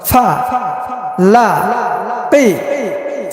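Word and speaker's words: فَلَقِ: এবার ভাঙ্গা ভাঙ্গা উচ্চারণ। ফা লা কি, ফা লা কি। এবার একসঙ্গে উচ্চারণ করব। ফালাকি, ফালাকি, ফালাকি।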